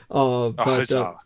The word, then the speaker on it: Khazar: Khazar. Yeah, Khazar. Yeah, or Khazar or Hazar. Oh, you can't pronounce the K. Okay. Yeah, it's either way.